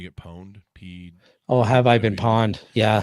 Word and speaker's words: pwned: Have I been pawned? Yeah. Pawned? Yeah. Pawned. Is that how you pronounce it? Yeah.